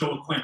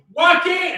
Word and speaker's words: Joaquin: It is not pronounced Joaquin. You best come correct. Y'all make some noise for my homie, Joaquin!